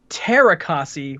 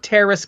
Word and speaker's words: Teras Kasi: Is it pronounced Terakasi with like a silent S, or is it Teras? Because I feel like we should get to the bottom of that right up front. I would say Terra, and I think the S is silent.